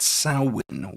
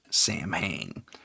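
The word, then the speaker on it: Samhain: Um with the festival of as they traditionally pronounced it, Sin, we call it Sam Hayne because we're illiterate too when we have to say Irish words, Celtic words specifically.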